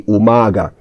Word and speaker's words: umaga: So in the word umaga, the stress is on the first A, umaga.